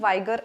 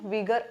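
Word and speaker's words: vigor: health energy and एंथुजियाम याला तुम्ही काही ठिकाणी वायगर असं म्हटलेलही पहाल पण याच प्रोनन्सिएशन विगर असं असेल सो फिजिकल स्ट्रेंथ असेल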